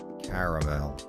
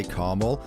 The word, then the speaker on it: caramel: had this talk before there is an a there are two A's in caramel caramel caramel I hate people that say carel well I've live in